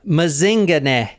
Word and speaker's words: Mazingane: paying attention all yeah mazinga and that is how you say it too cuz I actually heard someone in South Africa say it oh like